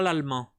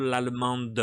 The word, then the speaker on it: l'allemand: Aí não pronunciou o E, não pronunciou S, não pronunciei o E aqui e não pronunciei o D, porque eu não falo l'allemande, eu falo l'allemand, l'allemand, l'allemand, l'allemand, tá vendo? Eu tô comendo esse E, esse D não está sendo pronunciado, esse S não, a